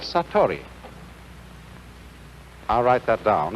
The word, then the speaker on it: satori: is in japanese in zen it is called satori i'll write that down it's an unfamiliar word